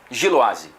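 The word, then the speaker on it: Gilloise: Sanjolaz, são Germã, Giloaz. Giloaz. Tá bom. É, depois de quatro dias falando errado, agora descobri como é que é a pronúncia e fora de casa, qu São João, pronto.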